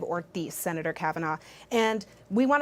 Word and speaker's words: Ortiz: two minutes to respond it's pronounced representative ortis Senator Kavanagh and we